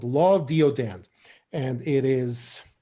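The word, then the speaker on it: deodand: what is it again it's called law of deodon and it is spelled uh d like david e like echo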